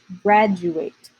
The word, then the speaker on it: graduate: I say you say graduate this is a funny word for pronunciation because it has a D but we pronounce it like just J Brad June 8th graduate